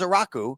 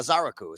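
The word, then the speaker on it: Ezeiruaku: Not as a rocku, a Zaraku is how you say it.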